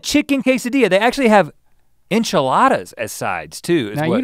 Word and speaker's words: enchilada: They actually have enchiladas as sides too. Now you don't say that word right. Quesadilla? The other one. Enchilada? Yeah, it's not an inch, it's an anch. Enchilada.